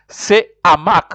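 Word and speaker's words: ce hamac: Then let's get to say hamac. Remember, we said hamac. Say hamac. We said hamac. The H is considered not silent. It is aspiré, so it is. You'll say hamac, just like say harpe.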